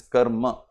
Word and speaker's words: karma: So it is karma. The ma is full. It's not karm.